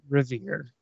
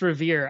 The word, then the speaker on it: Riviere: We pronounce it Revere. So, hi, I'm Revere.